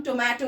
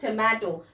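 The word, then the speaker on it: tomato: अक्सर हम टोमेटो बोलते हैं, this is wrong, it इज टोमेटो। Means जो ओ की साउंड है हमें इसको ई की साउंड निकालना है, दिस इज टोमेटो।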